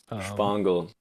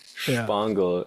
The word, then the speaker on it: Shpongle: It sounds so like almost perversely German. You know what I'm saying? like it it sounds like it should be spelled with a s ch at the start like a you know